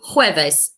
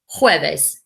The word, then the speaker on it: jueves: You say it, jueves, jueves. Remember, the J makes a sound, jueves.